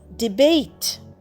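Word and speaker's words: debate: ডি ই বি এ টি ই ডিবেট দেখো এখানে লাস্টে ই কিন্তু উচ্চারণ হচ্ছে না আর এ যেটা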